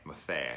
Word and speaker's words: Maffei: is an actor named Damian Maffei mafia I think I said that correctly I asked him specifically this pronunciation was so I get it right I said that right